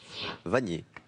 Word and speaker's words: Vanier: Vanier. Brice. Le R. Maxence. Le N. C'est le N. Il s'appelle Pareil. Nicolas Vanier. Et voilà. Et Vanier, ça s'écrit comme ça, avec un seul N.